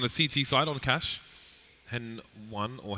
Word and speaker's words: Hen1: I spoke to him the other day and said, "How would you like us to say your name?" And he said he likes Hen1, he likes Henny, and